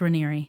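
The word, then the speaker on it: Raniere: They talked Do they pronounce it Reeri? Yes, it apparently it's Reeri.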